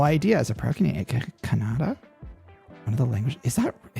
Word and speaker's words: Kannada: And I think the way that is pronounced, even though it might sound like Canada, is Kannada.